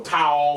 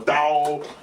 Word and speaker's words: Tao: Or Tao or Dao. It's really the T and the D at the same time.